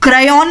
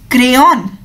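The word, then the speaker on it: crayon: बोलते हैं, जैसे आप स्टेपलर में ए की तरह बोलते हैं वैसे क्रेयॉन में भी आप ए की तरह बोलते हैं, जो हिंदी का अक्षर होता है ना ए, क्रेयॉन नहीं बोलते हैं, it's pronounced as क्रेयॉन, क्रेयॉन।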